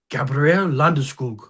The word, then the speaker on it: Landeskog: The Swedes with Gabriel Landeskog, pronouncing his name in real Swedish.